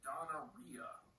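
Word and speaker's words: Donna Rhia: this under the pseudonym donnaria like rhymes with gonorrhea um so this is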